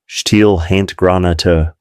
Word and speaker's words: Stielhandgranate: The Germans had one significant advantage in close-quarters combat: the steel hand granate, pronounced Stielhandgranate, or stick grenade.